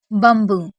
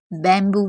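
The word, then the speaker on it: bamboo: उसको सही करते हैं बंबू जिसे बहुत से स्टूडेंट बैंबू भी पढ़ते हैं लेकिन इसका सही साउंड होता है बंबू क्योंकि एम होने पर ए साइलेंट रहता है इस वजह से और बंबू का मतलब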